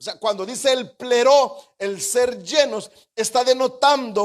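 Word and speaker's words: πληρόω: En el griego es una determinación que se escucha o se pronuncia así como pleró. O sea, cuando dice el pleró, el ser llenos, está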